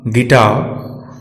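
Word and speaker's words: guitar: यू तब silent रहता है जब यह जी के बाद और वॉवेल के पहले आता है। हम देख सकते हैं निम्न शब्दों में गेस, गाइडेंस, गिटार, गार्ड, इन सभी शब्दों में यू साइलेंट है।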